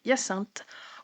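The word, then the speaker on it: Hyacinthe: Donc on a d'abord Anthony, Bénédicte, Coline, Daphné, Eloïse, Francesca, Grégory et Yassinte. Voilà, je ne ferai pas je ne vous ferai pas l'affront de le prononcer de prononcer Yassin à l'anglaise parce que je non, c'est pas possible.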